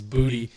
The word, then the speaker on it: Boutte: That catch to that wide receiver, I'm pretty sure his last name is Booty, but it's spelled like Boutte, was, I don't know